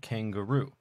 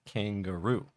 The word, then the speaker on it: kangaroo: longest in the word kangaroo and we also see that Kang the beginning has a little bit of stress on it it's not as strong but there is some stress there still kangaroo but G is just